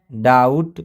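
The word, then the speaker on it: doubt: है रूल्स बोलना है जब बी के बाद टी आता है तो 20 साइलेंट हो जाता है की जब भी बी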